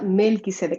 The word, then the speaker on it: Melchisedec: Se escribe Melchisedec, sí, pero se pronuncia Melquisedec.